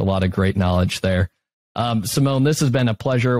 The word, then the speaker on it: Simon: It's Simone, and it's spelled like Simon.